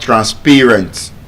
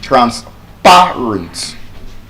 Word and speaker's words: transparent: N C the second A actually has the short a sound which means the correct pronunciation of that word is not transparent. It is transparent.